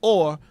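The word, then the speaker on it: עור: The Hebrew word for skin is also pronounced or, although it is spelled with the Hebrew letter ayin, which means the eye. Okay? Aleph means power. Ayin means eye. Okay? But it's spelled ayin, Vav, Resh. And that is the Hebrew word for skin. But they're pronounced exactly the same.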